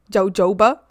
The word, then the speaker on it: jojoba: If you use that percentage of of oil on your your left nails, um, and then you and then you it's pronounced hoba. Hoba. Jojoba.